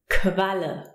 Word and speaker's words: Qualle: Now the Kuh always appears in combination with the U, Kuh, U, and we pronounce it Kv. Qualle.